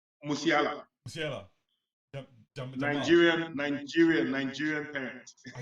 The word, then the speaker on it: Musiala: I mean, that is Musela, or how do you pronounce his name? Musiala.